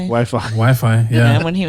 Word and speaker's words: Wi-Fi: Wachita, Or they say Whiffy for Wi-Fi. Wi-Fi.